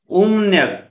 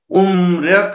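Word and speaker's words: 음력: हो, मको उच्चारण म नै भयो तर रको उच्चारण र नभएर नगर्नुपर्ने भयो, त्यसैले उम्रक नभएर उम्न्यक भयो कोरियन क्यालेन्डर।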